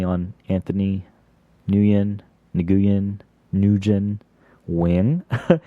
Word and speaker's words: Nguyen: yeah followed me on Anthony nuyen Nguyen newgen win it's the right way to say it let's